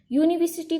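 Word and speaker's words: university: यूनिवर्सिटी को अगर slow motion में बोलेंगे यूनिवर्सिटी, यू, तो यू का साउंड होता है हिंदी लेटर य.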